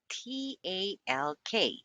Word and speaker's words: talk: When the letters L, K are found at the end of the word and preceded by the letter A or O, the L is silent. Talk, o, talk, talk, talk, talk, talk.